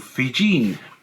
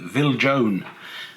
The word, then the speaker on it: Viljoen: We have Otto printings here, and these ones by another printer called Fijin, or as you read it in the description of the catalogue, you could easily mistakenly call it Viljoen, but it's Fijin, that's the correct pronunciation.